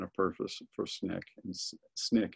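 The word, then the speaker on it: SNCC: purpose for Snick and Snick is how you say the Student Nonviolent Coordinating Committee um he gets basically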